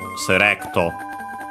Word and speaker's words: セレクト: Its accent is just like English, so on the re, low, high, and everything else, so serecto. And also the U is barely heard if at all because it's between unvoiced consonants.